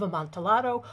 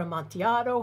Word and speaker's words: Amontillado: It's The Cask of Amontillado, or Amontillado, however you want to pronounce it.